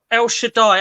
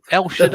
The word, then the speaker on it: El Shaddai: I've heard something very, very similar. I think when I heard it, it was like El Shawaddy or something when it came out.